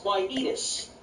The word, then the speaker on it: quietus: Today's word of the day is quietus. It's spelled Q-U-I-E-T-U-S.